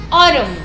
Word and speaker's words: autumn: We are going to start with, vamos a iniciar con autumn, otoño. Aquí la A y la U va a sonar como una O al principio.